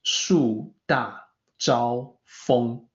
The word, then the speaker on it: 树大招风: 树大招风. So the feng at the very end, it's more like F-U-N-G or F-O-N-G, somewhere in between.